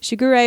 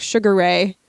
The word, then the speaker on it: Shigure: Fruits Basket animes, because I do not want to hear Shigure pronounced like Sugar Ray ever again.